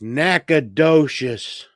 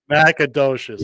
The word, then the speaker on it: Nacogdoches: On this date, in 1836, Davy Crockett arrives in Nacogdoches, Texas, to aid the revolution. I made Okay. Now I have to step in. Now it's Nacogdoches. Nacogdoches.